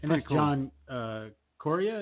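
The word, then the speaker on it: John Correia: John Coria? Is that how you say it? That's it. Yep, that's it.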